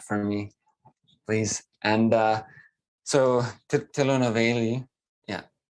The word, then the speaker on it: Tirunelveli: And so Tirunelveli, yeah, Tirunelveli.